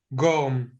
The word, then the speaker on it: Gorm: Gorm. Yes. I'm saying it right? Yes. Are you Dutch? Well, you could say it's not exactly, but also So is it not Gorm or is exactly.